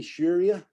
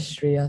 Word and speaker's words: Shreya: Only Sharia? And pardon me if I said that wrong. Right, you'll correct me. Wow. Yeah, but it's pronounced as Shreya, sorry. Shreya, okay, thank you.